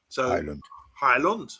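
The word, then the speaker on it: Højlund: talking about I'm sorry I just want to pronounce it correctly because Emma's she's from Denmark and she's saying hi La hi London Highland yeah yeah that's easy for me from now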